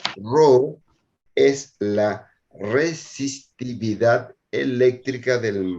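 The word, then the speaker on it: ρ: los trabajos prácticos Entonces ese coeficiente de proporcionalidad que se pronuncia ro es la resistividad eléctrica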